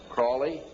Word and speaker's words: Crowley: learned about was Aleister Crowley. He likes to have his name pronounced Crowley to rhyme with holy.